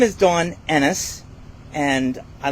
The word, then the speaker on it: Ennis: my name is Da Enis and I like to say because some people call me it rhymes with tennis not with penis thank you I'm from